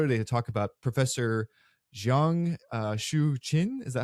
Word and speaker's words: Jiang Xueqin: to talk about Professor Jiang Xueqin. Is that how you pronounce his name? I believe. Yeah, Xueqin would be. I'm not sure about the tones, but it would be Jiang Xueqin.